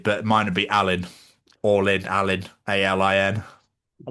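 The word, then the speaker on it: Alin: All in, Alan.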